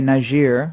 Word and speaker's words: Niger: Berets are in Niger which we now have to say nice year why don't we always change the pronunciation oh it's like it's